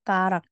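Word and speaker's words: 가락: nah jari-jari disebutnya skarakongkarak karak di sini dibacanya seperti karak sungkarak sngkarak Kemudian untuk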